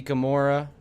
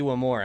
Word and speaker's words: Iwamura: postseason they brought out Aoi Ikamura, or I hate if I mispronounce that, but the guy that made the final out in Game 7, Aki Iwamura, that's how you say it.